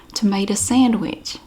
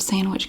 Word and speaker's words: sandwich: The only way I ever heard it pronounced was tomato sandwich. The D in the word sandwich kind of disappears. Sandwich.